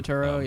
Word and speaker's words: Turturro: Is that how you pronounce his last John name? Turturro, yeah.